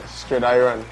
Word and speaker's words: Stridiron: Give me the pronunciation. Let me hear you say your last name. Stridiron. Stridiron, okay.